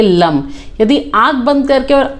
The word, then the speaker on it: लं: इसे हम बोलेंगे, प्रोनाउंस करेंगे लम।